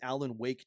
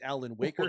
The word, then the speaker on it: Alan Wake: However, I will say at one point the interviewer actually mispronounces Alan Wake 2 as Alan Waker.